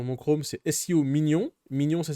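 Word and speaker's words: Minion: Mignon, ça s'écrit M-I-N-I-O-N.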